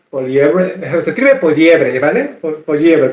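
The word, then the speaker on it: Poilievre: Poliebre, como si fuera pollito. Ya. Poliebre, si no me acuerdo se pronuncia Poliebre, es un nombre francés.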